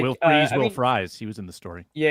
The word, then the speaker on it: Fries: I thought it was Freeze, but people have corrected me to Fries.